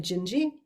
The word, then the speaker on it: Dindi: It looks like Dindi, D-I-N-D-I, pronounced apparently Gingy.